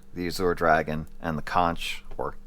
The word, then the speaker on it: Conch: I didn't include those, but of the more recent releases, the White Tiger, the Azure Dragon, and the Conch or Conch, if you want to pronounce it correctly.